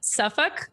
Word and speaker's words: Suffolk: And I know you're located in, I can say this correctly, Suffolk.